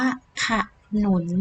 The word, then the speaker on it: ขนุน: ค่ะ นี่ อ่าน ว่า ขนุน นั่น เอง ไม่ ใช่ ขนุน นะ คะ อัน นี้ เห็น ว่า ขนุน เรา ต้อง อ่าน ว่า ค่ะ หมุน เป็น ยัง ไง คะ